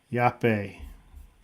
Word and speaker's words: Yape: Yape is the correct pronunciation with a Y.